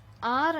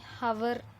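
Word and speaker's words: hour: For example an ఆర్ అన్నాం అనుకోండి, ఇక్కడ హెచ్ అనేది ఉంది, 1 syllable. ఇక్కడ హెచ్ అనేది సైలెంట్. మన ప్రొనౌన్సియేషన్లో దీన్ని జస్ట్ ఆర్ అని ప్రొనౌన్స్ చేయాలి, ఆర్, అంతేగాని హవర్ అని ప్రొనౌన్స్ చేయకూడదు.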